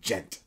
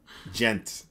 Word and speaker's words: djent: gent somebody tell me how to pronounce Ghent will the d like Ghent or is it just with a J djent djent yeah okay so Robocop yes